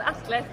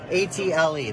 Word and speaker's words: Atle: How do you pronounce it? It's called Atle. Okay, which is nail puller, Swedish for nail puller. Yeah, let's just say nail puller. It says right on it. A-T-L-E, that's what it's called.